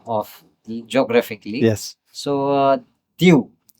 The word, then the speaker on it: Diu: Which is not Creole, but you call it Diu and not Dio because it's very easy to uh to get it uh mispronounced as Dio Indo-Pro you know like like Duo.